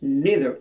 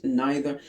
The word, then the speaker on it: neither: We pronounce neither in the American English but we pronounce neither in the British English.